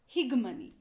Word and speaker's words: hegemony: higmani or hegemony both the pronunciations are correct h e g e m o n y to understand popular culture in its entirety it would be unwise to ignore the development of the concept of higmani or hegemony that is leadership or dominance antonio